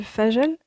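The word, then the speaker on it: fajr: faire tes prières surrugatoires ton ta prière du fagel c'est comme ça que ça se prononce hein Fage bon bref la prière du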